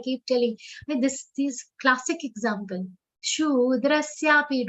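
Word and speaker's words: शूद्रस्यापि: Shudrasyapi. Don't say kshudra. Kshudra. That is wrong.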